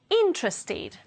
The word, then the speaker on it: interested: B with a d interest ends in t so the adjective will be interested ending in ID it we need to